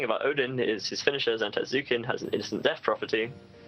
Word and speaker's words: Zantetsuken: The important part is it Zanetsuken or Zantetsuken? I've just said Zantetsuken, but it's It's spelled Japanese word. Zantetsuken.